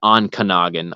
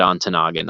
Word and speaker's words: Ontonagon: any of this stuff up, but it is Ontonagon. I said Ontonagon. I apologize. That's what I heard as a kid. So not having had to look any of this stuff up, it's Ontonagon.